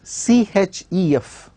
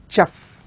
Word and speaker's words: chef: or question for instance the word such as c h e f c h e f this is a noun